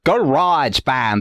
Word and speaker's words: Grojband: something from Canada today Garage Band as I Now understand how to pronounce it it is a show